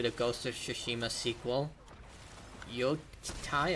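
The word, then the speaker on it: Yōtei: ghost of shishima sequel y Tai I believe it's pronounced but the sequel and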